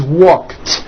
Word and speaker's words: walked: The word walk, which has an unvoiced K sound at the end, walk, becomes walked.